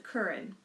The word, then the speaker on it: Karan: He lives in Singapore, and his name is Curran. You spell it Karen, Karan, but you pronounce it Curran.